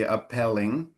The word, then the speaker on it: appealing: When you have that two vowels together, E and A in English, it's often like then open. You know, so if there's no A, then it could be appealing, but with a with the A, then it's it's like the E is open.